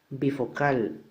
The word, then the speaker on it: bifocal: Bifocal, la fuerza recae acá, por lo tanto sí es palabra aguda.